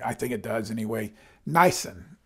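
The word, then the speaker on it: Nisan: think it does anyway niacin n-i-s-a-n it's not Nissan that's a Japanese car niacin is the correct pronunciation so God made a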